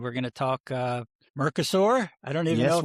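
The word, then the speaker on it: Mercosur: And we're going to talk uh Merkasaur. I don't even know if I'm pronouncing Merkasaur. Yes, Merkasur.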